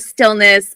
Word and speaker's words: Stillnuss: it for multiple reasons because obviously the word Stillness evokes this like idea of kind of peacefulness